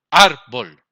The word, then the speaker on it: árbol: Árbol. ¿Dónde estamos haciendo la mayor fuerza? En ar. Entonces, la sílaba tónica es ar.